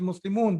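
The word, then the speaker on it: مسلمون: Actually, it is Muslimun because you are stopping there.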